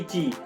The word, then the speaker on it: Qi: तो एक है ची, इसका स्पेलिंग क्या है ना, QI, लेकिन इसको कहा जाता है कि ची।